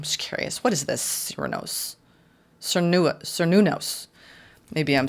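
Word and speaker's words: Cernunnos: Oh, I really massacred that. Cernunos. Okay, that's Cernunos.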